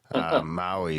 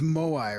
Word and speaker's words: Moai: a Tulpa Grim America Maui somewhere on Moai somewhere on Easter Island. Darren, we keep pronouncing it like the Hawaiian Islands, but it's Mo. It's Moai, right?